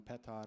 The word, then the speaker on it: Petar: So the grandfather that I'm named after, and therefore why Petar is spelled funny, it's the Slavic spelling, Petar is how you would say it in Serbian.